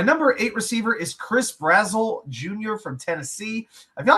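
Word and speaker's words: Brazzell: But Chris Brazzle, that's how it's pronounced.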